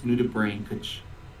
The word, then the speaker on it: nudibranch: Nudibranch. I don't know. I feel like I'd be putting on a bad British accent to pull that one off. It's nudibranch.